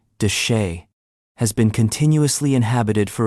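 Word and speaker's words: de Chelly: Canyon Deelli, pronounced duchay, has been continuously inhabited for over 5,000 years.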